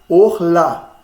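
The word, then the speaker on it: אָכְלָה: Então eu vou ler Orla, Orla. E não há. Por quê, gente? Porque não está acentuada, não tem méteg aqui embaixo, garantindo. E a sílaba está fechada porque terminou numa consoante. Terminou em consoante, não acentuada, como nós dizemos, não é? A sílaba está fechada, a vogal é breve.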